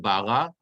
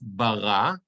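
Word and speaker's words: ברא: So it's Bereshit, bara. It's not bara, it's bara, because the munach is under the reish, the second syllable.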